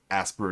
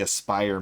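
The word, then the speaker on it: Aspyr: kotor over to ask asper is what i keep pronouncing it as but it's actually aspire media all right so we're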